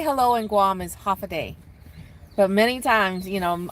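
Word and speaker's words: Håfa adai: you're talking about uh you know at minimum half a day so that's that's what they say no that is not why we say stop it the way we say hello and Guam is half a day but many times you know a lot of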